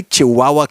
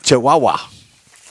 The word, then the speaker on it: Chihuahua: 12th this is my favorite it's the I Chihuahua classic car cruise in it's at the I Chihuahua Mexican Cafe in Spring brand just a minute you're mispronouncing it's the chahua it's I chahua chihuaha there you go all right thank you I